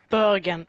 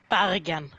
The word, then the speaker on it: Bergen: I say it in the English way because it's not Bergen, it's Bergen. Yeah, you see? Okay, but if it's a change in pronunciation, I can understand getting that wrong.